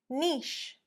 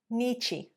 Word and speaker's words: niche: niche, niche, or niche, niche. It's not. It's one syllable, niche, niche. Only one syllable there, guys. So essentially the vowel on the end isn't pronounced.